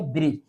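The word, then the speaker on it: bridge: इसको हम रीड करेंगे ब्रिज। यहां भी देखिए डी डी जी एक साथ है इसलिए इसको डी को साइलेंट रखेंगे तो इसको रीड करेंगे ब्रिज।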